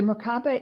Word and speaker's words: Merkaba: that you do with help me with the pronunciation, the Merkaba. Mm-hmm. The Merkaba is a fifth dimensional vehicle that helps you be more fifth dimensional.